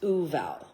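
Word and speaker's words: Vual: It's spelt V-U-A-L, but pronounced Uval.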